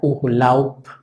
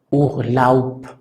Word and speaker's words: Urlaub: Entonces, en alemán suena casi como si fuera una letra P. Se pronuncia Urlaub, Urlaub. Ese es el nombre, o más bien, ese es el sonido de la palabra Urlaub, donde al final estamos